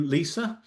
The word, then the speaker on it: Lisa: Going to move on to Lisa. I'm told reliably that's how her name is pronounced.